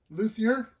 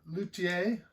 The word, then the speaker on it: Luthier: Luier as we lazy Americans pronounce it or Lutier as it probably most properly pronounced.